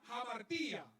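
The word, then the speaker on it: hamartia: muy conocida que es la palabra jamartía se escribe con h y esto lo que significa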